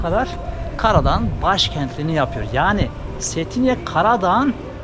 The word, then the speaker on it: Cetinje: figür ilan figürü setine Aslında çetince diye yazılıyor ama setine diye okunuyormuş transformatör da ned bu